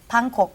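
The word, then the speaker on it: 방콕: i love thailand okay in korean it's it's pronounced panko right but then pang is a room also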